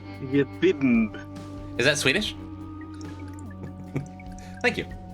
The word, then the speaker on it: Jimb: For how to pronounce the silent B? JIMB'S.